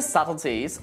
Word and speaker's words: subtleties: Now, if you know that the B is silent in subtle, how do you say this word in this sentence? You got it. Some of the subtleties of the language are lost in translation.